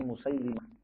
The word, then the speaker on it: Musailamah: Musailamah alkadzab. Ya. Ulama itu membacanya Musailimah lamnya dikasrah dalam rangka untuk merendahkan Musailamah.